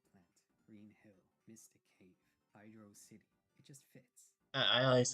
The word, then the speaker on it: Hydrocity: However, the entire thing was finally fully put to bed when Yuji Naka himself said it's meant to be pronounced Hydro City.